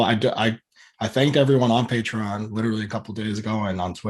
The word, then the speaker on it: Patreon: how you say it yeah patreon okay okay patreon i say words wrong all the time so